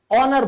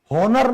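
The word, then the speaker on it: honour: जैसे सम्मान ऑनर बोलते हैं। होनर नहीं बोलते।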